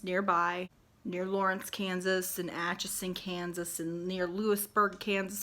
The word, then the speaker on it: Atchison: Do you know what you don't see in the word Atchison? An N in the middle. It's not Atchinson. If you're going to say it 50,000 times, say it right. Atchison. It's not that hard. You just sound it out.